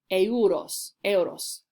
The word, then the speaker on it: euros: These are euros, but we pronounce it euros.